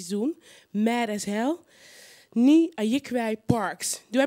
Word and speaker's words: Nii Ayikwei Parkes: Ni Ayikwai Parks. Do I pronounce that well or not?